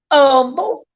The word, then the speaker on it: Humble: And we don't call it Humble. It's Humble without the H.